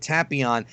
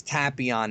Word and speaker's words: Tapion: And by the way, before anybody says anything, it's Tapion, not Tapion. Once again, the dub, Rayleigh, Saiyan, Tapion. Don't say I'm a pronunciation Nazi, because I don't care how you say it, but don't leave stupid comments about me saying it wrong, because Rayleigh, Saiyan, and Tapion is wrong. It's Tapion.